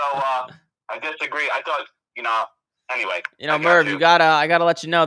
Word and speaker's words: Merv: But then to you, I think he thinks your name is Murphy, but it's Merv, right?